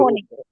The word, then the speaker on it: wohnen: আচ্ছা, ডু হ ওন, উচ্চারণ হবে, কারণ এটাকে আমরা ভে বলি, ডাব্লু কে আমরা ডয়চে বলি ভে, তো হচ্ছে ভোনে, ইস ভোনে মানে একটু বাজবে মুখের ভিতরে কথাটা, ঠিক আছে।